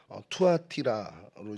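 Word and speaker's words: Θυάτειρα: 두아디라 성읍은 헬라어로 투아티라로 이제 발음이 되는데요.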